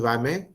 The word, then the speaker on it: WAME: Pronounced WAMI. Generally we say WAM. However, it is pronounced as WAME.